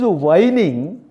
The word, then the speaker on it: whining: Always whining, H is a silent.